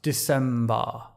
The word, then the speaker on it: December: What does help immensely with all this, by the way, is if the vowel on the last syllable of December is an R sound, December.